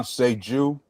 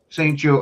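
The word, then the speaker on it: St-Juste: Now I'm probably going to butcher his name, Benjamin Benjamin Seju. Saint Jew. Okay. See, I would have been wrong with both pronunciations I tried to do.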